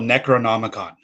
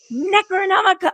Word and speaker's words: Necronomicon: The band's called Necronomicon. Necronomicon.